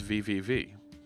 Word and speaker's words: www: schema query language and dub dub dub in English which is fun - is it www yes in German it's vvv yeah and then actually